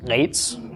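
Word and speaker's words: עץ: An ayin with a tzera beneath it, and a final tzadi, pronounced eitz, or just eitz if you don't wish to choke yourself while you're trying to pronounce it.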